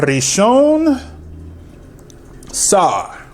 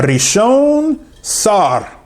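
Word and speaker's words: ראשון שר: A Rishon Sar. That's how you say it in Hebrew. A Rishon Sar.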